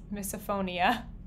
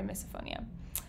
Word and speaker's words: misophonia: i might have miss misophonia oh i've been saying it wrong is it misophonia oops sorry misophonia i just thought i